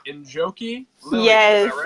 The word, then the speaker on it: Njoki Lilian: Njoki Lilian, Yes, is that right?